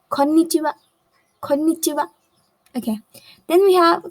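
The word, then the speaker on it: こんにちは: hello so you'll say konnichiwa konnichiwa but pay attention to this end as this has a low intonation in japanese konnichiwa do not stress a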